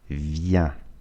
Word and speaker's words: viens: Je viens. Осторожно произношение. ИН произносится как я. Je viens. S не читается.